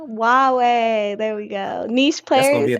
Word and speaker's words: Huawei: pronounce them right ho is it hawaii hawaii huawei huawei yeah it's huawei i only know it